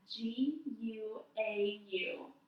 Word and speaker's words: guau: So a dog sound in Spanish is wow. It's spelled G-U-A-U, guau.